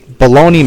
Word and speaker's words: bologna: english word technically but silent g it's unnecessary the same word without the g baloney makes no sense of what so ever bellogna is a baloney even with the silent g how does a make an e sound it should be bologna at the very least what got me started